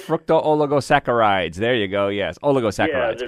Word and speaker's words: oligosaccharides: I guess they're in the category of how you pronounce it, oleosaccharides. Fructooligosaccharides. There you go. Yes, oligosaccharides.